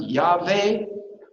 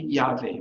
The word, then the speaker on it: Yahweh: So, is it pronounced Yahweh? Probably Yahweh, because that's how it's transliterated into Greek.